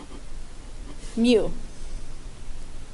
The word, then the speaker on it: mu: a longer tail on the bottom left that's pronounced mu when you see this symbol you just have